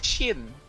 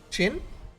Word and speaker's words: Shin: Oh, you may call me Shin. Chin? It's spelled with an I. Finally, nice to meet you, CHIN? Chin? Shin. SH.